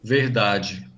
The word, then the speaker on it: verdade: Palatalization also occurs in de and te when they're unstressed with no accent mark and when they're followed by a in the next syllable. That's because in those cases the letter e actually sounds like the letter I.